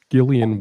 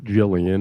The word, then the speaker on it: Gillian: we have a uh Gillian Welch song I used to pronounce Jillian until I met Karen and she corrected me uh but anyhow the